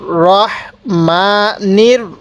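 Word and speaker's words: ٱلرَّحِيمِ: এবার আপনি একবার আমার সাথে সাথে পড়বেন, বলুন আর রহমানির রহিম। এবার আমি কলম ধরবো, আপনি একা একা পড়বেন। হ্যাঁ বলুন, উচ্চারণ কিভাবে পড়বেন, হ্যাঁ বলুন আর রহমানির রহিম। কেউ রাহিম পড়বেন না, তাহলে আর রহমানির রহিম।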